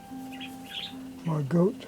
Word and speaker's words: Margot: been saying is Margot, M-A-R-G-O-T, and learned it's pronounced Margot Frank, Anne Frank, and I think Anne's actually full birth name was Annalise.